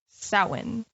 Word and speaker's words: Samhain: to spell that so we're just going to add a bunch of letters and let's add some d's and some h's somewhere in there and like so pronounce it the print pronunciation see now i'm even saying the pronunciation other than halloween it is samhain so where did it